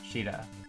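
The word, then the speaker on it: Shiida: Sheeta. That's how it's pronounced. Really? Yeah. I mean, that's how it's like right Huh. now in like the katakana and everything.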